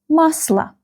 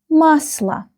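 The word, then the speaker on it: масло: Musla. Musla. Musla. the same rule. This letter O is not stressed.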